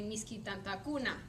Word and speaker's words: misky tantakuna: depending on the suffix it's always the second to last syllable receives the stress um so i wrote